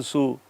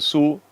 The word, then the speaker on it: zoo: I went to the zoo no zoo zoo should not sound like a zoo zoo should not sound like a sue supposing you say I